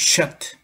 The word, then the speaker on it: Seth: This afternoon, we are going to learn about the word Seth, the third son of Adam, Seth. In Hebrew, it is pronounced Sheth.